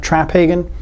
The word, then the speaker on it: Traphagen: working with some very interesting people like mark traphagen and that is how you say his name